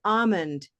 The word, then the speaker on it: almond: Whereas if we eliminate the L in this word, almond, it's still almond, almond, right? It's still the same meaning.